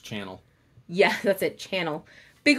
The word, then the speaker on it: Chanel: pronounced channel.